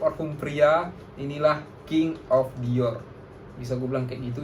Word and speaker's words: Dior: Pronounce-nya yang benar kayak Dior. R-nya tuh di langit-langit gitu.